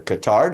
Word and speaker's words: Qatar: The only country that takes them, the only country is Qatar or Qatar, depending on how you say it, and they only take the billionaires.